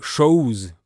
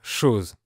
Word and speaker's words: chose: Et la lettre O se prononce OU, comme chose pour dire chose.